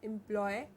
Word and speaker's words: employee: father is a government employee my father is a government employee employee excellent my father is a government employee yes ee e at the end and so the double